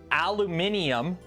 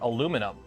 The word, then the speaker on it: aluminium: ready are you ready aluminium or aluminum they're both correct you can call it aluminum and aluminium you could spell it aluminium you could spell it aluminum they're both correct neither is the right and neither is the wrong the guy who wrote